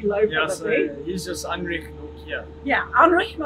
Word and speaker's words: Anrich: Yeah, I've heard Nokia, heard Nokia, but Anrich Nokia. Anrich Nokia. Anrich. Similar to Heinrich, except it's Anrich.